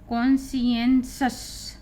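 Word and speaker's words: conscious: बड़ा हो जाता है, इसी को मिला करके कॉन्सियंसस। TIO जब भी आता है तो उसका उच्चारण सा, सलगम वाला सा हो जाता है।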